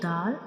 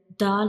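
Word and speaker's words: دال: So in this letter dal has same pronunciation like ta.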